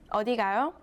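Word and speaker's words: 어디 가요: a question mark and read the last syllable with a rising tone the whole sentence means where are you going odigayo the second sentence ends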